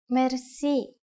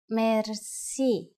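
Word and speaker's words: мерси: Merci. Merci. Merci is a long word from French, but it is pronounced with a typical Bulgarian hard R.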